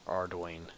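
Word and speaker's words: Ardougne: the way to eron ardoin it's actually pronounced ardoin says jagex ardoin um I'm not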